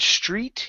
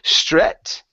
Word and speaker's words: street: go to the word street here instead of saying stret okay it's e raise your tongue in the back of your mouth street street straight okay one more